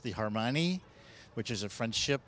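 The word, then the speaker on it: Hermione: me, which is uh pardon my French, but pronounced the Harmoni, which is a French ship named after a woman, Harmoni.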